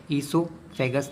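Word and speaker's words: oesophagus: इसमें ओ को मत पढ़ना बच्चों, साइलेंट होता है, ईसोफेगस नाम होता है इसका।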